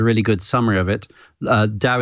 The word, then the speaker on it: DAO: good summary of it Dow is spelt Dao it's an acronym standing for decentralized or autonomous organization and